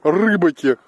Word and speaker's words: рыбаки: а здесь озеро рыбаки ударение правильно рыбаки рыбах они прощай его